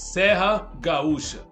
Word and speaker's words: Serra Gaúcha: That's the name, and they put it in Spanish Sierra Gaúcha or Gaucha, but in Portuguese the right pronunciation is Serra Gaúcha.